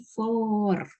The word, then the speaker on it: for: pas kamu sebut for itu U-nya itu nggak dibaca ya. Jadi for gitu. Jadi lebih panjang O-nya.